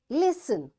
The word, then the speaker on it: listen: these words next is T is silent in the following common English words so what these words are listen passion Castle often whistle